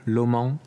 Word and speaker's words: Loman: C'est Romain, mon prénom, prononcé à la fois à la japonaise, puisque je suis franco-japonais, et à l'anglaise. Donc c'est Roman, Loman, qui est un peu un mélange, et Loman, pour un